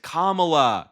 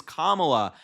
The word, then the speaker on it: Kamala: purposefully mispronounced her name they all went kamla kamla her name is Kamala in an attempt to